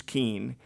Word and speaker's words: Kuehn: My name is not pronounced the way it's spelled, and if I say I'm Kuehn, it's going to translate it as Keen.